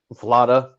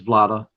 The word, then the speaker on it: Vlada: uh your kickstarter project vlada did we pronounce that right because sean and i were going over that it's like vlad vlad with an a yeah that's what i